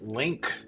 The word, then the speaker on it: LINQ: I guess that's pronounced link.